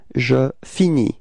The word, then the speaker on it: finis: will get the form je finis. Repeat. Je finis. Okay, so you see that this verb is ending with a S, but then you don't pronounce it. Alright, so it's je finis.